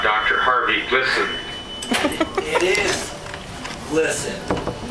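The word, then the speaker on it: Glisan: I've met descendants of the family, both sides of the family, and they each pronounce it different. What about Dr. Harvey Glisson? It is Glisson, not Gleason.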